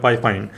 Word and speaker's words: FIFINE: तो company name है जो मेरे ख्याल से जैसे इसको प्रोनाउंस करना चाहिए वो है फाइफाइन।